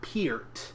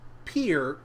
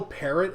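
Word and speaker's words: Peart: up again uh Neil Neil's last name is pronounced Pier like ear peer Pier um I I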